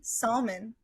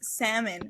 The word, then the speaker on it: salmon: So I will say salmon with an L because there's a fucking L. There's a freaking L. I'm so sorry about that. Damn. Got angry. He's passionate about it. I hate English so much sometimes because how do you say it? It's salmon without the L.